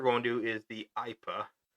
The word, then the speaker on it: Ipa: So the first we're going to do is the Ipa. It's spelled AYPA.